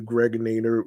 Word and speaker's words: Gregonator: I'm your man, aka the Gregonator, rhymes with narrator.